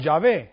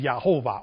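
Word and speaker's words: יהוה: The Yod He Vav He means pronounced Yahovah or Yod Hava, Kabbalistically speaking. Yod Hava. That's the right pronunciation.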